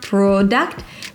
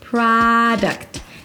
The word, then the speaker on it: product: There is no O so it's not PRO-duct but an open ah sound PRAA-d'-ct'. Think of it as The Devil Wears PRAA-da. The Devil Wears PRAA-d'ct.